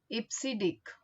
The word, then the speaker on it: EBCDIC: We can pronounce it IPSID, and the name of this code is Extended Binary Coded Decimal Interchange Code.